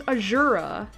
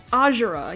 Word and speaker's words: Azura: know but no it's Azura and I'm like that's weird especially since we're in hoshido where the Japanese name should be like pronounced with the emphas emphasis and stress on the first syllable and you know so